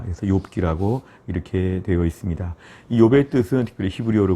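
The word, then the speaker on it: אִיּוֹב: 우선 명칭을 보시면 첫째, 히브리어로는 이욥이라고 이렇게 우리가 발음을 합니다.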